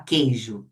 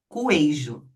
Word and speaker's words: queijo: Então, por exemplo, na palavra queijo a gente pronuncia u. Quando a gente fala queijo, a gente emite o som do u? Não, não. Senão nós falaríamos coeijo, mas não é isso.